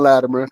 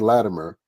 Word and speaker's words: Latimer: talk to another Latimer. And so how do you say your last name? Latimer, which is where you say Latimer. I say it with a it almost sounds like a D.